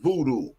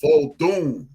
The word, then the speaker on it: Vodun: Like, okay, you mentioned voodoo. Voodoo is a mispronunciation of that craft. It's called Vodun.